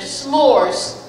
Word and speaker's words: s'mores: like s'mores for dinner s'mores one syllable s'mores s'mores s apostrophe